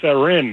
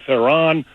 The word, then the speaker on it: Theron: and by the way you can pronounce Charlize Theron it's Erin not Sauron and I thought well